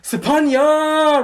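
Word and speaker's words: Sophanya: There's a lot of other Cambodians with the same, you know, SOPH prefix, like my dad Sapon, SOPHON, and my ex Sapi, SOPHY, and her cousin Sapani, SOPHANNY, and one of my besties, Sapik, SOPHEAK. My name is pronounced Sapanya!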